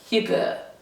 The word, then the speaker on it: hygge: I'm going to do a video all about, now let me pronounce this in the true Danish way, hygge.